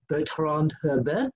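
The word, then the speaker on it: Bertrand Hébert: wrestling magazines, that is Bertrand Herbert. Did I pronounce that right? Exactly, Mr. Apter.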